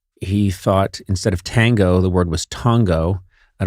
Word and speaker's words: tango: Would you agree that Tongo would be incorrect? It could be Tongo, a quicker A. I accept that, but I will not accept Tongo.